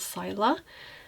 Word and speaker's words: Scylla: It's one of the multichromes called Scylla. I heard that's how you're supposed to pronounce it, so I will just add that for kind of lighter yellowy green shimmer.